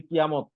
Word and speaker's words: কিয়ামাহ: বুঝতেছি এই যে কিয়ামতুন কিয়ামাহ লাস্টে করলে কি কয় এই যে গোলতাটা কি পড়তে হয় উচ্চারণ করতে হয় না কি হয় কিয়ামাহ কিয়ামা হ্যাঁ কিয়ামা আর আমরা বাংলায় কি বলি